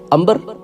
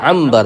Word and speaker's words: عنبر: نام میں عین آئے، ہم کہتے ہیں امبر۔ اب امبر کو اگر دیکھیں تو الف نون بے رے ہوگا، اصل میں کیا ہے؟ عنبر ہے، عین نون با را، عنبر۔ تو اسی